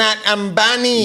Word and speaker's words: Ambani: But yeah, how do you pronounce his name? Abani. Man, this guy is Ambani. super paid. He had the world. Ambani.